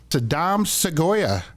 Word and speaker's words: Sadam Seguya: universal language calling in from Uganda we have Saddam segoya welcome Saddam yes thank you very much thank